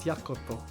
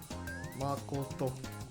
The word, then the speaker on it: Makoto: Makoto, it's not Yakoto. Makoto.